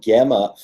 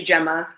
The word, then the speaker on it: Gemma: all right we are live with filmmaker gamma Gemma writer director San chez gam am i pronouncing correctly it's actually Gemma Gemma Thank You Gemma and Gemma a